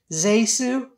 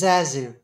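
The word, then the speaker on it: ZaSu: my pleasure I'm sure my name is actually pronounced zesu but everyone says Zazu so now I'm stuck with that I need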